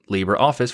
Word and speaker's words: LibreOffice: pronounced libra and the libra office application is pronounced libreoffice for the english term and there's also many